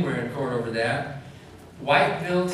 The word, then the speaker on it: Whiteville: in court over that whiteville tennessee which they pronounced what level it's outside of memphis